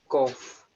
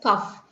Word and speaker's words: cough: do is like this how do you pronounce this word c-o-u-d-h cough wow now certain people are pronouncing it as tough now how do we correct them I tell them to rewrite the spelling in their mind and then write it in your mind as kof so whenever I am